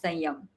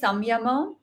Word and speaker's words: Sanyam: But honestly, all my teachers, and they're all PhD Sanskrit scholars, pronounce it as Sanyam. That's what I have heard it as that. Okay, like genuinely. So maybe some teachers say Samyama, maybe, but my teacher says Sayam.